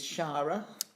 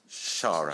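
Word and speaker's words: Xara: boutique hotels tell me a little bit about Zara Palace well it is shara shara so annex is pronounced as a chef okay a Maltese so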